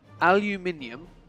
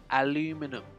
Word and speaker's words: aluminium: right here's the joke aluminium is how it's pronounced in the UK so I said I need some aluminium I then went to buy it from the United States where they pronounced it aluminum and I said let's